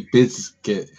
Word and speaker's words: Bizkit: person I've ever heard say Bizkit that pronounces the Z.